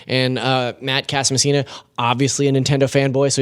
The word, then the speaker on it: Casamassina: Matt Casablanca. Did I pronounce that wrong? Casamassina. Why did I say Casablanca? Casamassina.